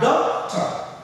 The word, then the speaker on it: doctor: You have doctor. Right? Doctor. The doc is what we stress because it's a two-syllable noun.